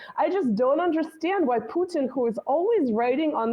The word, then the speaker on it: Putin: Oh, well, this is like, I always kind of wonder which pronunciation of, like in Russian, we say Putin, right? We actually emphasize the U, but we also say the in, right?